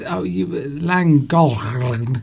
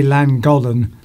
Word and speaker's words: Llangollen: Duncan, it's Llangollen, or however you pronounce it. I say Llangollen. That's how a British person would pronounce it, but it's a Welsh name.